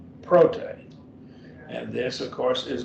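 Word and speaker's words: πρώτη: Prote. And this, of course, is also an adjective, and it's a feminine form they're giving here because we're dealing with feminine nouns. Prote, that would be first, the first something, the first something.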